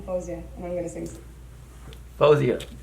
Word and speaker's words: Faouzia: Faouzia. That's how you pronounce it. I thought it was fa with the A, Faouzia.